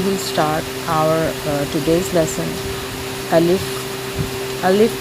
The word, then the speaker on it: alif: Alif, A-L-I-F, Alif.